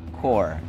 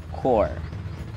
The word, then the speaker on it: corps: father was once a core commander poor say that with me fantastic core do not be confused with corpse the dead body this one is core core angkorma sombreros large unit